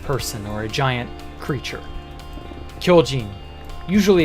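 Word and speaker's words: 巨人: how you write it i mean and it's pronounced kyojin anyone here a fan of a certain attack on titan well the word titan in the name attack on titan is kyojin what am i building can i ask you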